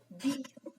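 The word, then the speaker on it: بِ: Le son bi se prononce lorsque les lèvres s'étirent vers l'extérieur. Bi. D'accord? C'est comme le B plus la voyelle I en français.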